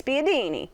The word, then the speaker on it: spiedini: It's like you gotta say it like this, spiedini.